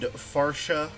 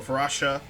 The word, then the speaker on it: Farcia: Uh she has a saber-tooth uh tiger named Farcia or Vasha. You got it right the first time. Are you sure? Yeah. All right. even though even though it does not look like it's spelled far.